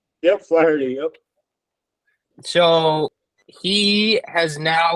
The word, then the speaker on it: Flaherty: Yeah, so Pat, correct me maybe on the pronunciation. Jack Flaherty? Yep, Flaherty, yep.